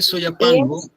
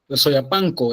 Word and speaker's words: Soyapango: Es que Soyapango le pusieron después cuando vinieron los españoles, españoles que hablaban na del centro le pusieron soyapango. Sí, soyapanco en realidad, pero por nuestra pronunciación en el español salvadoreño que tendemos a sonorizar muchísimo después de las nazas.